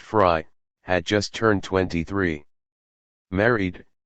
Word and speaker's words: Frey: Officer Frey, pronounced Fry, had just turned 23.